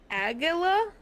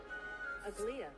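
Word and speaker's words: Aglaea: Aglia. Aglia. Wow, so it's literally said Aglia. Aglia. Huh. Aglia. Aglia. Huh. Weird. Aglia. Apparently. Aglia.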